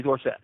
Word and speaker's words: Dorsett: here on the pronunciation is it Dorsett or Dorsett Northland like Tony Tony Dorsett thank you so that's